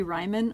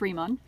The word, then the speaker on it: Riemann: like it should be ryman or something but it's actually pronounced riemann kind of like you know how einstein is e i but you pronounce the i not the e it's a second vowel